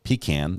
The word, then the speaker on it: pecan: I should definitely put sweet potato and pecan in there, or pecan, depending on where you live.